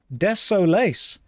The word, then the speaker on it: Desolace: That's That's how you pronounce it. Desolace.